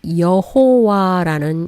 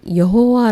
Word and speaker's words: 여호와: 발음 들이 생겨나게 되었구요 영어권에서는 발음하기 힘든 y 와 w 를 제이와 부위로 바꾸면서 이름이 여호와라는 이름이 생겨나게 된 것이죠 제일 먼저 살펴볼 이름은